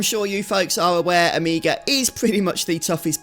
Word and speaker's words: Omega: correct me on pronunciation, I do say Omega. If I was American, I might say Omega. I am not.